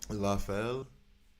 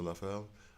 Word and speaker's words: Lafel: Lafel, like Raphael, but you don't have a so Lafel.